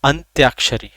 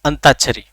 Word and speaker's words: अंत्याक्षरी: हमारा प्रोनाउंसिएशन क्या है, जिस बेल्ट में हम रहते हैं, ब्रज बोली जहां बोली जाती है, अंताक्षरी। क्या खेलेंगे, आओ भाई अंताक्षरी खेलेंगे। अंताक्षरी नहीं, अंत्याक्षरी, ठीक है।